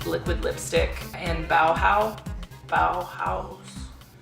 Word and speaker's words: Bauhau5: D liquid lipstick in bowow Bow house no one really knows how to say it bowow it's it's bowow with a five so I think it's supposed to be bow house but anyway uh liquid